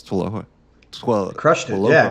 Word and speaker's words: TWLOHA: Did I pronounce TWLOHA? Crushed it. Yeah, TWLOHA.